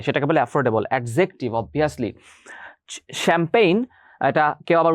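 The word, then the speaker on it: champagne: afford করা যায় সেটাকে বলে এফোরডেবল এডজেক্টিভ অবভিয়াসলি শ্যাম্পেইন এটা কেউ আবার উচ্চারণ করবে না চ্যাম্পানিজ শ্যাম্পেইন এটা ফ্রেঞ্চ ওয়ার্ড শ্যাম্পেইন হচ্ছে একটা মদের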